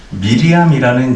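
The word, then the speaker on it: מרים: 홍해를 가르고 해방할 때도 미리암이 여자가 노래를 불렀습니다 주님께서 파라오의 군대를 바다에 쳐 넣으셨다고 노래했습니다 미리암의 노래도 무시무시한 노래예요 마리아는 히브리어 발음으로 미리암입니다 또 미리암 마리아는 반항하는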